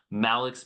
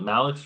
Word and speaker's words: Malix: Is it Malik or Mix? Mal. Yeah. Mal Media is a combination of my name and my business partner, uh, Max Morgan.